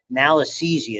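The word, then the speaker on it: Malassezia: This is malisesia is how you pronounce that.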